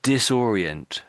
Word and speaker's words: disorient: Because it's all pronounced like an O. Not just or.